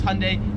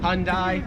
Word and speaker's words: Hyundai: So we pronounce this as Hyundai. Here they pronounce it as hyundai. Americans make it like two syllables like hyundai. Australians three syllables hyundai.